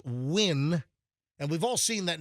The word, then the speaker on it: Nguyen: Nguyen, pronounced Win.